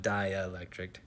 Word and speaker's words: dielectric: it has a dielectric a dielectric not dielectric dielectric spelled like die like die die electric dielectric constant of 2.6 so